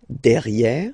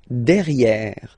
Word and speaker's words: derrière: So if you look carefully, you've got E here and then double R, so it will open the sound of this E and you should pronounce it E. Okay? De. Derrière.